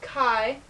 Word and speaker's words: chi: is the this is a symbol for Kai Square it is called Kai and it has and